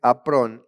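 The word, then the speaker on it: ἄφρων: Bueno, la palabra griega de necio es aprón. Es a con acento en la a.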